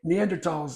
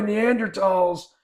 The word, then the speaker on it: Neanderthals: neanderthals neanderthals um neander neander TOS that's what some people say is that like old people I know I think that's just how you're supposed to pronounce it anyway neander TOS uh came on the